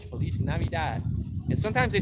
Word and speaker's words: feliz navidad: thank you so much merry christmas felice navidad that's how you say it in spanish feliz navidad and sometimes they say